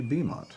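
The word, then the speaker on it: Beaumont: I I added a U after the A and pronounced it Bowmont, but it's actually Bont.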